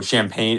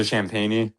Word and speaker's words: Champagnie: is uh Julian uh Champagne. Uh oh no, Champagne is a Champagnie. Is that how you say his name?